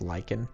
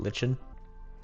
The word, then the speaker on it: lichen: Is it pronounced Lykan? I'm like 90% sure it's pronounced Lyken, not lichen.